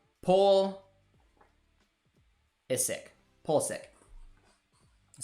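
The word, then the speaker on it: Pulisic: can say that one you say it like pool is sick ah there all right you eat thank you that sounds easier to say paul is sick pull sick that sounds weird i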